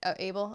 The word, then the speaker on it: Abel: he's like my friend a bell or is that his name i hope it is abel abel okay i don't know why i pronounced it that way abel oh yeah like cain and abel you know like easter